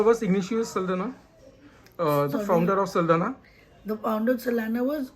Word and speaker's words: Saldanha: is a very popular go in name the pronunciation is saldana now but i guess with the portuguese influence it would have been saldana because a lot of people do pronounce it